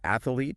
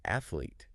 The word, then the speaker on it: athlete: is a tricky one I used to say athlete but I realized it's actually athlete two syllables just like a sprinter